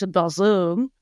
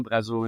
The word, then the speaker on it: Brazo: Brazo is, yes, the French Brazo, Brazo in French, Brazo. My life story has been trying to tell people that, I really don't care how you say my name. It's just, there's so many ways to say it. We can say it in French, Brazo.